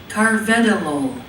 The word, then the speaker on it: carvedilol: Carvedilol. Who wants to pronounce it? I don't hear anybody. Neither. Carvedilol? Carvedilol? So how can we tell how to pronounce it? Should tell you. Let's press this button. Carvedilol.